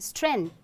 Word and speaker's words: strength: You often hear students or even people saying strength. Have you heard? Oh, how do you pronounce this particular word? Tell me. Do you pronounce it as strength? Let me tell you, it's strength, not strength.